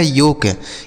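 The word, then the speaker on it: yolk: और इस योग का मतलब होता है यहां जो एल लिखा है ना बच्चों, यह साइलेंट है। मतलब इसे नहीं पढ़ा जाएगा। ठीक है? साइलेंट का मतलब उसे नहीं पढ़ा जाएगा। तो इसे क्या पढ़ा जाएगा? योक योक का मतलब हो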